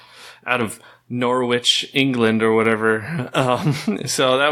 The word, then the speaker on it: Norwich: liked all that stuff did they always correct people that it wasn't Norwich it's Norwich yeah I think so that's why I said it Riley that's why I said it wrong as well it's so funny how the hell do you have a silent w I don't know well